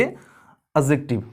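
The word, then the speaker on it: adjective: ये नाउन, ये प्रोनाउन हो गया, ये एडजेक्टिव है, इसमें जो डी है ना ये साइलेंट है, इसको हम पढ़ेंगे एडजेक्टिव। Okay, एडजेक्टिव।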